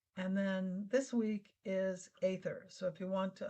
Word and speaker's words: Aether: Since then, I've studied with scientists who've been talking about it, and they pronounce it Aether and spell it with an A.